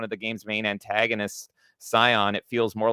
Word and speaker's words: Sion: Oh, does he call it Sion or something? Scion.